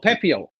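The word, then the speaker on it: Pepiot: ra names No Junk no p e p i o t pepot pep pepot oh pepio there's no e right p e p i o t pepio yeah sure 3 and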